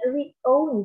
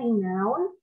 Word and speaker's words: renowned: Aku juga awalnya kira nih re-own sih, re-own. Aku pikir ini re-own kayak dipunyain gitu, tapi ternyata bukan. Itu bacanya renowned, dan ini tuh artinya terkenal.